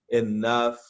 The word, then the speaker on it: enough: Se liguem aí que essa pronúncia do GH em inglês, ela tem a pronúncia de F para nós, tá, gente? Laughing, enough. Lembrem disso aí.